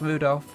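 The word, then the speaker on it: Rudolf: Anyway, this guy, his name is pronounced Rudolph.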